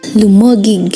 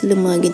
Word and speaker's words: Lumaguig: After some time, it was called Lumaguig Stone. Sadly, it is often mistakenly pronounced as Lumaguig Stone.